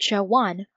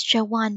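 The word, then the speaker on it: jaune: only I pronounce it Joanne, like her name. Dinkas? Josh said. What's this got to do with anything? Don't you guys see? Dink said. The French word for yellow sounds just like Joanne.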